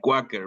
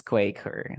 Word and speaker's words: Quaker: how do we pronounce it no I always pronounce it like quacker but I think it's Quaker yeah that's Quaker that's very Quaker and this one the same